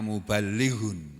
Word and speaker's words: muballigh: Penyampai itu dalam bahasa Arabnya muballighun. Muballighun. Tulisannya muballighun tapi membacanya muballigh.